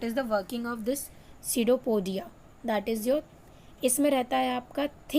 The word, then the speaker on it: pseudopodia: Now coming of next, that is your सीडोपोडिया। इसको हम P is silent here. So what is the working of this pseudopodia?